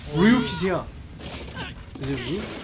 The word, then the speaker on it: Ryuk: Is it Ryuk? How do you say it? Ryuk.